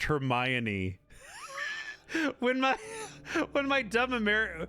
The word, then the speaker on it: Hermione: It wasn't until the movies I realized it's pronounced Hermione. When my when my dumb America American brain read it, I was like, "Hermine, Hermmon's in trouble.